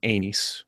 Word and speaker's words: Aenys: and they said that it's supposed to sound like Rhaenys, but without the RH. That's how you're supposed to pronounce it, according to Gurm. I like so it's that. supposed to be Anys.